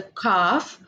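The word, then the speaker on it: calf: is pronounced as a cough the L is silent we are not going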